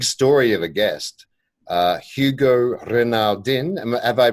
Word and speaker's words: Renaudin: have a big story of a guest Hugo Renard in and have I pronounced your name right there Hugo yeah it's been do you can say your renewed in Britain okay okay I'll do my best my